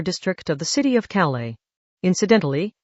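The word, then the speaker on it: Calais: Agene's group was running through the harbor district of the city of Calala. Incidentally, as a French city that s is silent, the camera tossed into the northern Atlantic showed the rusted hulk of the warship is still there, right?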